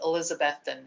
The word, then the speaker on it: Elizabethton: a in east tennessee called elizabethton not it's it's spelled elizabethan but he said elizabethton so um i lived